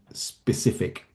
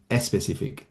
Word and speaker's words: specific: in Spanish mm, where if a word starts with the letter S, mm, quite often Spanish speakers or in the Spanish language, you add an extra vowel sound to the beginning of that word. So if I think about the word specific mm. in Spanish, it sounds more like especific Yes. with an e at the beginning, and or an s sound at the beginning.